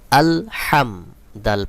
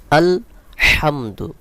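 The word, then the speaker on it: الحمد: হামজা লাম জবর আল হামিম জবর হাম আল হাম দাল পেশ দু আল হামদু এখানে যে হা রয়েছে এই হালকের মধ্যখান থেকে উচ্চারণ করতে হবে।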